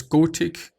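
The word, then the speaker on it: Gotik: is called oh it's go tick I'm not sure I think in English you're pronouncing it gothic but you know in German is actually go tick I hope it is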